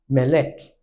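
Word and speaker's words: מלך: So to pronounce this, I will raise the voice on this accent. So I'll say me, me, melek, melek, melek, melek, melek.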